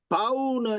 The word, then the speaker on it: bow: 읽으셨어요 어 예습 하셨네요 바우는 이거 바우라움 읽는게 맞습니다 바우의 뜻이 무슨 뜻일까요